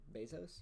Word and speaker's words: Bezos: Bezos, right?